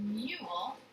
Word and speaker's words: mule: How silent E makes the vowel say its name? Mule.